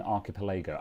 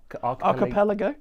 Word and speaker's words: archipelago: Yeah, we're going to be doing what's called an archipilago. Am I pronouncing that right? An archipilago. Like a group of islands. I was wondering if it was intentionally pronounced differently. Is it? Well, that you you know me. Is it aripilago? Archipelago. Archipelago. As in the group of islands. Archipelago. Archipelago. Okay. Archipelago. like the so many words.